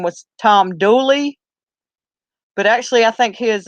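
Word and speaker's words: Dula: of or a that turning a into a ie like for instance doula would turn into dually like his actual name I think is Tom doula but he's pronounced Tom Dooley in the South yeah he was hung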